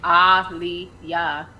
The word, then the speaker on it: Aaliyah: Her name is AALIYAH'. That's how you say my mom's name. That's how you say her name, okay? To the freaking Leah, okay? Like Muhammad Ali, okay?